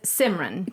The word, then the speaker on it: Simran: But it's Simran. Correct. Is the correct pronunciation of the full name.